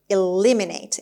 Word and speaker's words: eliminate: eliminate eliminate ham turkey eliminate and the stress is on l as l eliminate this is a verb